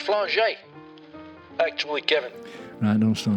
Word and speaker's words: Flange: a chiropractor called timothy flange it's pronounced flaget actually kevin i don't